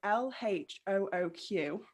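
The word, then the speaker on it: L.H.O.O.Q.: was by marcel duchamp which is called l-h-o-o-q which um the initials pronounced by native french speakers would translate to she has a hot ass so that is pretty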